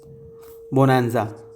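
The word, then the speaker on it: bonanza: चलिए अब अगले वर्ड पे आते, 17th बोनांजा या बनांजा, NANZA पढ़ेंगे इसको, बनांजा, इसको ऐसे प्रोनाउंस करेंगे, बनांजा, ठीक है।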